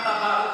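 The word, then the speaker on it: تبرع: tabarruk, huruf ta, Tabarruk. ba, ra, ain. Bacanya apa? Tak baru. Tabarruk. pakai tasdid. Ya, rohnya tasdid.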